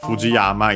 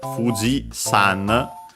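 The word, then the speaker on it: 富士山: Uh it's worth mentioning that yeah uh while you might have heard yama for uh Fuji yama uh nowadays in Japanese usually uh uh when attaching it to uh names of mountains you use the um uh Chinese reading sun. Yes. So actually the uh Fujiama is actually called Fuji San in uh Japanese, not to be confused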